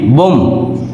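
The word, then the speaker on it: bomb: এর উচ্চারণ হচ্ছে না বি ও এম বি বোম বি এর উচ্চারণ হচ্ছে না বোম মিন্স বোমা এরপরে লিম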